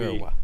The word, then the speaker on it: kurwa: I just read it and I You pronounce the V the W as a V. Kurwa.